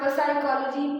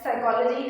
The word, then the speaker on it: psychology: before s Cy it's before s now it is silent okay it's not pychology per psychology it's not per psychology you'll be not pronouncing the word p it's called as psychology and then we have